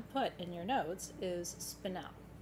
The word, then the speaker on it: spinel: So what you have to put in your notes is spinel, S-P-I-N-E-L, it's spelled like it sounds. If you say spinel or spinol, we will still count you.